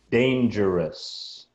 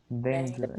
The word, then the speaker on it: dangerous: Dangerous. Dangerous. It's more like an as sound at the end.